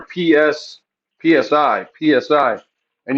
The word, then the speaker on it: psi: it's the letter PS Psi Psi and you pronounce it s and that's the first uh sound that you say when you say psychology so that's just PSI